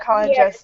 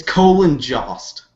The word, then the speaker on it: Colin Jost: I could talk about Colin Jost's dick all night.